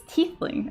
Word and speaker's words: Tiefling: It's Tiefling, according to Zell. Is it? Oh, Lazel. Yeah. Tiefling. That's right, that's right. Because Tief is German for deep, low, rhymes with leaf.